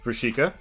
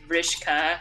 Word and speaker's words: Vrishka: Her name is Vrishika. That's an armor roll. I mean, it's pronounced Vrishka. Vrishka, my bad.